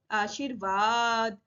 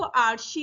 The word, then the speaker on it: आशीर्वाद: अगर शा पे लगा दोगे तो आर्शी हो जाएगा, आशीर्वाद।